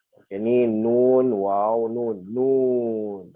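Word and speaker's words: نون: Nun. Atau ejaan dia nun. Bukan non. Jangan non. Tapi nun.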